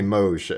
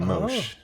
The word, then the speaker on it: Moesh: So to the average person, they're like, okay, and I'm like, just call me Moesh at some point, M-O-J. And that then became Moesh.